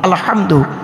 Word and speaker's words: আলহামদু: পড়ি আলহামদুলিল্লাহি রাব্বিল আলামিন আলহামদু এ গলার ভিতর থেকে হটা উচ্চারণ করবেন।